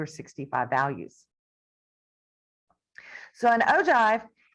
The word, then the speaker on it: ogive: I know it's spelled with a G, but it's pronounced ogive.